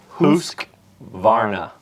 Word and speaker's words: Husqvarna: But we did look it up and it is pronounced officially husk varna.